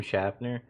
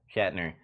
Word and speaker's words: Shatner: I want to really say that William Shatner, did I say his name right? William Shatner. There you go. Shatner.